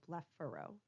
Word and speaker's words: blepharo: Remember that the PH letters in most of these words are going to be pronounced like an F sound, so blepharo.